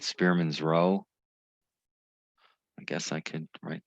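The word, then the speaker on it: rho: rank correlation um is it's often called spearman's row i guess i could write that now and it's pronounced row okay and there's another way to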